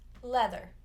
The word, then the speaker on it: leather: We see it in the word leather, so even though it's an EA, it's still just a short E sound, leather.